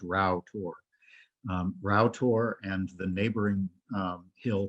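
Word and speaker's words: Rough Tor: at here is uh it looks like this is pronounced rough but it's not it's actually pronounced rao tour route and the neighboring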